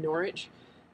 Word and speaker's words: Norwich: the train from Norwich it was not pronounced Norwich it was pronounced Norwich me and my infinite americanness um I took the train from norch to um London Liverpool